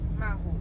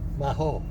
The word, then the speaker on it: Maho: The pronunciation of this is Mahaho. Maho. Maho.